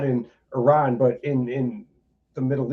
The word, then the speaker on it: Iran: And she's like, she's like, "It's Iran." I was like, "That's what I said." Because from Chicago. I'm like, "That's what I said. I said I ran." She's like, "No, Iran."